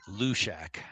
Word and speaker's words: Halushak: I believe they want to say Lushak. Lushak? The H Okay. is Lushak. The H is silent.